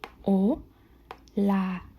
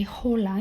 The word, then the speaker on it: hola: O, la. Remember, this is silent. You don't say hola. You say o, la.